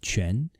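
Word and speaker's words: 颧: It is pronounced quan, and it means cheekbones.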